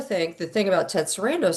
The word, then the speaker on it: Sarandos: But I also think the thing about Ted Sarandos says he is head of Netflix and nobody